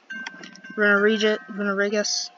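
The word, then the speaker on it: Runerigus: Runarigus, that's how you pronounce it.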